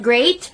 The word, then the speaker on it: great: meant but peat and sweat but great, the last word rhymes with freight and weight.